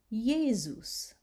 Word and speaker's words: Jesus: All right, the next three words you'll see that the S falls between two vowel sounds, like Jesus. So you hear the Z.